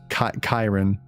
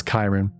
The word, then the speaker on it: Ciarán: It's Oh, it's pronounced Kyron. So, it's Kyron. Kyron Keen.